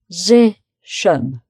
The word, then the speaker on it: position: They're both O. Position. So the Z, it's three syllables, position. So the middle syllable is the strong one. These are both weak syllables, so it's position. Position.